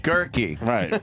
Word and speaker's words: Guerke: Guerke. Right. Is that what is Guerke? He said It that just rhymes with turkey.